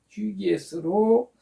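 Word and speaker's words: ὑγιής: 뭐라 발음한다고요? 휴기에스로 고침받기를 원하느냐?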